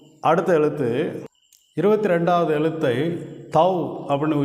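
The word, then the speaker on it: תו: இந்த எழுத்து இந்த எழுத்தை தவ் அப்படின்னு உச்சரிக்கிறோம்.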